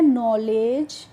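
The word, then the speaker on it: knowledge: पढ़ेंगे ले यहां पे जो डी होती है एल इ डी होती है डी जी ई आपको कहीं भी किसी वर्ड में दिखेगी तो वहां पे आपको डी का प्रोनाउंसिएशन नहीं करना होता है तो इसीलिए इसको पढ़ते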